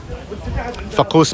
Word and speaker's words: فقوس: فقوس means شاني فقوس ايش هو بالضبط فقوس؟ الفقوس هذا هو؟ it's فقوس. Okay, I was saying it wrong.